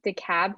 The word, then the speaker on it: DeKalb: than 300 thousand dollars is it did you pronounce it dekalb county yes okay i just i thought i